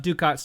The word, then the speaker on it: ducat: I do have enough ducats to do this.